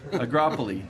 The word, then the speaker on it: Agropoli: complete in the, how do you say that, Agropoli, thank you, International Soccer Tournament. Agropoli, International Soccer Tournament.